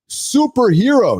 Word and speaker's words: SPRHRA: Superhero.